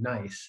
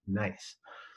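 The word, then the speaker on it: gneiss: the rock is called nice it's spelled g-n-e-i-s-s but it's pronounced nice so that's uh let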